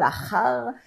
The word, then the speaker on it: Ajar: Alors, bien sûr, c'est un jeu de mots, mais Ajar, imaginons qu'on le prononce maintenant un peu à l'espagnol, Ajar, eh ben, on retomberait exactement sur le nom de Acher, en notre vocalisation, Ajar ou Acher, ça veut dire l'autre en hébreu.